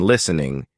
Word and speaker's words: listening: just keep at it English has tricky sounds like the silent T in listening which you learn by hearing it listening in real life